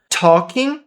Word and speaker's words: talking: Talking. Som de o com acento agudo.